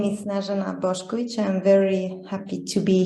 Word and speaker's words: Snežana Bošković: You pronounced it very well. Thank you. My name is Snežana Bošković.